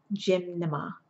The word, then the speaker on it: gymnema: a leaf and it's extract so just remember gymnema it's pronounced and it's G Y and n e